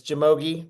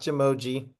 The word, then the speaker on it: Jamogi: My name is Jamogi, and it's Jamogi, not Jamoji. I learned that after saying it wrong for about 2 years the other day.